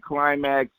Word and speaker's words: Klymaxx: And you can follow her on social media at Climax Music. If you don't know how to spell it, I'll spell it for you.